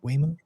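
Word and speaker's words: Waymo: There's going to it's going to come around where autopilot is it I mean look at the Whimo cars, right? That's how you pronounce it, right? Wimu.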